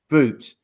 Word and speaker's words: brut: How do you pronounce it? Brute. Brute.